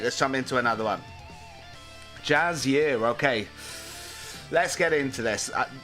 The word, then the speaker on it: Jiren: as well whilst we're here why not it's pronounced Jazz year okay Jazz here okay thanks for uh doing it in that